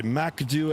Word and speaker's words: MCDU: here and or the Macd as I call it, the MCDU or I pronounce it Macd M A K D E W.